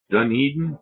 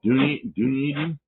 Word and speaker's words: Dunedin: I'm trying to remember how to pronounce it properly. Dunedin? Dunedin?